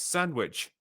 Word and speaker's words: sandwich: sandwich I do not it's sandwich like with a d mhm that's how it's